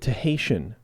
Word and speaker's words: Tahitian: frigging weeks man the Tahitian Terrence wall pronounces it to Haitian to Haitian to Haitian not Tahitian like we're doing but Stu Haitian I